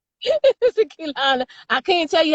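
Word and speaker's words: Keilana: I'm probably saying her name wrong, but Sister Kaylana. That's right. You saying it right. Sister Kaylana.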